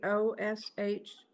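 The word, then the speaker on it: Kh'osh: he told me that his name is spelled KH apostrophe OSH, that the KH on the front is the sound of lightning. And since most of us cannot pronounce the sound of lightning, he told me to call him Osh, and he allowed me to Americanize that to Osh.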